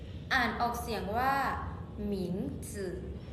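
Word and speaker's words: 名字: ย่า อี้ผิง ฉ ย่า อิง คำ ที่ 5 หมิง จึ อ่าน ออก เสียง ว่า หมิง จึ หมิง จึ มี ความ หมาย ว่า ชื่อ ส่วน ใหญ่ จะ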